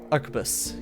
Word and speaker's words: arquebus: Pronounce that gun name. Let me look at it again. Arquebus? Arquebus, yep.